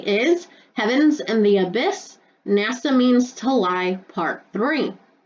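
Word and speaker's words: נָשָׁא: beguiled me is hebrew word h5377 and it's pronounced nasa and it means to lead astray i.e mentally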